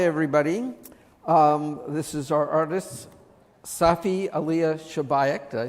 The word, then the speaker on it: Safi Alia Shabaik: This is our artist, Safi Alia Shabaik.